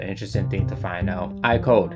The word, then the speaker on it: AIKODE: thing to find out I code the pronunciation can also sound like I code meaning the game was